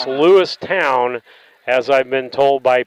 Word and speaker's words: Lewistown: I've got to say that it's Lewistown, as I've been told by people. And so we get ready. Depends on which year you were born there is how they pronounce it.